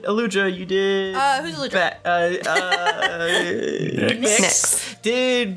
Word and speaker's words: Nyx: Nyx. Did... NYX, that's how it's spelled, FYI. Yeah, like the... like the goddess. Okay. Or also the makeup.